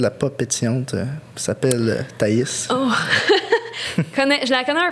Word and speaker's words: Thaïs: Comment il prononce? Thaïs. Taïtis, puis des fois Anaïs.